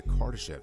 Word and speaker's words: Kardashev: That's exactly what the Kardashev scale does.